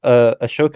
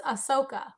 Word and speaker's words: Ahsoka: I think Tom likes Ashoka, I think is how it's pronounced. I don't know. Am I pronouncing that right, Tom? It's Ahsoka. Ahsoka, okay. I'm pretty sure that's how you pronounce it, yeah.